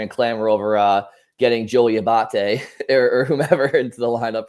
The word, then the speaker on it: Abate: It's Abate, but I'll get to my opening shift here,